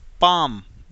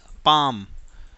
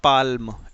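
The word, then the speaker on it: palm: पी ए एल एम, पाम। This is पाम, नॉट पाल्म, इट्स पाम। एल को pronounce नहीं करना है।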